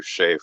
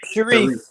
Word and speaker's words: Sharif: But that's supposed to be an argument against materialism, or am I misrepresenting you, Shafe, or Shaif, however you pronounce it? Sharif. Yeah, Sharif. Like the sheriff.